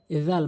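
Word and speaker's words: ذال: এরপরে আসুন জাল মারাত্মক ভুলের মধ্যে আরেকটি হচ্ছে জাল অর্থাৎ সার মত উচ্চারণ হয়।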